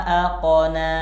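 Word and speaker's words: أَقْنَىٰ: rakhawah bukan Qalqalah Agna sedangkan yang punya sifat Qalqalah Itu adalah huruf qof AQ bukan A aqna jadi ayat ini cara baca yang benar adalah Hua Agna wa aqna misi Mas ya mas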